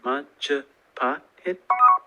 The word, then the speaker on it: Majapahit: I'll spell it. Gosh, I'm smart. It's the Mahajapit, Majahapit, Mapajahit, Mahapajit, Mapajahit, Majapahit.